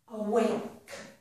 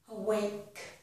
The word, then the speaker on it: awake: Awake. Awake. We do not pronounce the letter E at the end of that word.